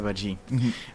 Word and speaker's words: Badji: Badji, c'est ça. Badji, d'accord. Ah, moi je prononce mal ou je prononce ça bien?